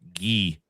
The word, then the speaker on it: Guy: in the YouTube chat, I am going to pronounce it the French way, Guy.